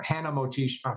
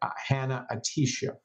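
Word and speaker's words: Hanna-Attisha: A classic example, which I write about, is Dr. Mona Atisha, or Hannah Motisha. I'm always getting her name wrong. Excuse me, Dr. Mona. Dr. Mona Hannah Atisha.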